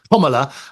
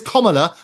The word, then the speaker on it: Kamala: It is Kamala, as in comma, the punctuation, and la on the end of it.